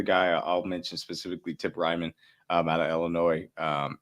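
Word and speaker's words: Reiman: that's what I meant I meant to say Ryman I butchered his name I'm sorry but that's why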